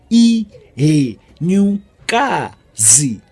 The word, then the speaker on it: iHenyukazi: see fair the e new cars how you pronounce it II he knew can see one more time e he new car Z that is it was a lesson for today